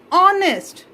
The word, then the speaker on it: honest: But when you look at it, how we pronounce it as honest. The sound start with O instead of H. Here H is silent.